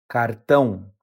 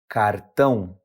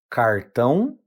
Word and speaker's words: cartão: The correct pronunciation is cartão. Once again, cartão. Now, pronunciation can vary depending on the region, so you might also hear it pronounced as cartão or cartão.